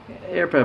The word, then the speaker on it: Herpa: made by here but airplane by the way h-e-r-p-a that's how you pronounce that and uh they're a